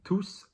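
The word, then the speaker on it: tous: in ready-to-wear collections pretapote t-o-u-s is occasionally pronounced tus or tu it depends what's going on so we're all going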